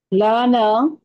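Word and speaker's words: لنا: উচ্চারণটা লা না না, কিন্তু লা না, এরকম লাটা টান হবে না, লানা। উচ্চারণটা কি? লানা।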